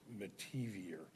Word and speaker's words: Metivier: For the record, the pronunciation of my name is Metivier.